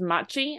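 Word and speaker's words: 街: So this kanji can also be pronounced as machi and means city. But if you have it like attached to a word like this, it gets pronounced as gai, and it actually means like the word district.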